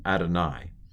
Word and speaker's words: Adonai: another way it's written yave but it's spoken adonai so the vowels this is a vocal schwa